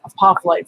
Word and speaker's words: apophyllite: to the spelling over here i'm gonna say a pop light so you guys know how to spell it a p o p h y l l i t e i didn't know it had two l's in